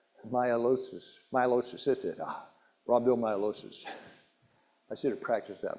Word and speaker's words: rhabdomyolysis: Most people can't pronounce it. Rhabdomyolysis. That's it. Rhabdomyolysis.